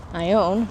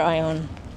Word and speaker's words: Ione: Some people pronounce that Ione because I think there was an actress at one point, Ione Skye. But this is actually Ione because there's a town up yonder. Actually more that way. Ione in Amador County.